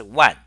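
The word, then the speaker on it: 卍: much often it's pronounced one okay like the character 10,000 in Chinese one so that's about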